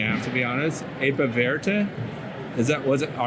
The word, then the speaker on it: Apiverte: Apiverte? Was it? All right, say it. Apiverte. Apiverte. The E is silent.